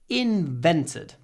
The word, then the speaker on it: invented: invented by Thomas Edison invented invented the stress is on a but we don't say invented it's not a big a in vented in Long